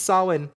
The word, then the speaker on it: Samhain: I almost said Samhain, but it's not Samhain, it's Samhain.